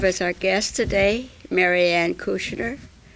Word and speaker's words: Kusner: We have as our guest today Mary Kusner. It sounds with an SH, but it's spelled with just the S.